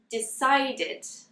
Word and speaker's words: decided: Now, with decide, it actually 2 syllables. Decide. But when we add this sound to the end, we're actually going to add a 3rd syllable. So it will be decided.